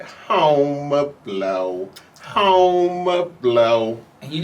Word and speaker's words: Homer Blow: So from Cold Medina, I said, home of blow, home of blow.